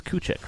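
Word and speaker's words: Kukoč: Tony Kuk. Yes, coo. Cooch. It was coochic, right? That's how you pronounce it.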